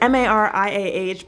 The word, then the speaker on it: Mariah: is Maria, and so it's M-A-R-I-A-H, but it has an H on the end, but it is Maria.